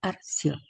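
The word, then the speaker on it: أَرْسِلْ: Vokal dammah di akhir diucapkan sukun-ed, menjadi "arsil".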